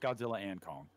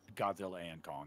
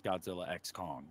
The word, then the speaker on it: Godzilla x Kong: X Kong the new Empire it's pronounced it's pronounced Godzilla and Kong it is Godzilla and Kong is what it's called and people are still